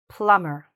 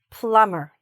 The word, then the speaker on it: plumber: We just say "plumber", "plumber". Okay? So, if there's stress anywhere, it's a little bit here, the beginning, "plumber", okay? And the "bee" is silent.